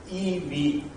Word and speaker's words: EiV: Let me introduce our platform, which is pronounced EV. EI is pronounced E and V.